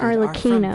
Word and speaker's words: Arlecchino: All of us house members here, Lady Arlecchino herself included, Arlecchino, that's how you say her name.